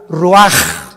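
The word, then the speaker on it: רוּחַ: Y exhaló Isaac el Roach. Así como suena, se pronuncia la CH en hebreo como J, Roach.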